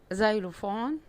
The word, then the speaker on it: xylophone: tree، tree، umbrella، umbrella، xylophone، xylophone، yacht، yacht، zebra، zebra. لو لاحظتوا هنا الاكس في اول الكلام، الاكس في اول الكلام هنا بتتنطق ذا، ودي حاجة نادرة، لكن هي دايما بتتنطق اكس، اكس.